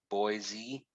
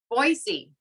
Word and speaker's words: Boise: i pronouncing it right boise boise yes with an s not a zed so listen you guys